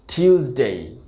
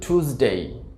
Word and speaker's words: Tuesday: টিউসডে, টিউসডে, টিউসডে। আর American উচ্চারণটা হবে টুসডে, টুসডে।